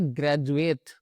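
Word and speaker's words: graduate: इन तीनों ही कॉम्बिनेशन में जो हमारा डी है वो ज की आवाज निकालता है।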